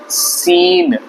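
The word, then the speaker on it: scene: इसलिए सी साइलेंट है सीन में भी सी की कोई जरूरत नहीं थी साउंड केहा से इसलिए साइलेंट लेटर इस वर्ड में तो है एस सी ई एन सीन मतलब कोई तरह का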